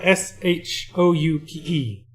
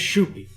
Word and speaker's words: Shoupe: It's spelled S-H-O-U-P-E. His name's Shoupe, or Shoupe.